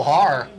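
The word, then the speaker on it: Haahr: I'd say, you asked me the pronunciation there before we came back live. Theo Haar, H-A-A-H-R, he's been the best defensive player on the field here in this 3rd quarter for Lathrop.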